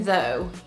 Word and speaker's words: though: mot par exemple et ensuite je vous ai dit dans le premier mot que le GH à la fin ça pouvait avoir deux sons soit soit silencieux ici c'est un exemple de fin silencieuse pour le GH au final on a